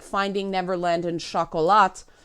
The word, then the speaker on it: Chocolat: like Finding Neverland and Chocolat for well Shu Cola but that's not how Americans say it for Miramax which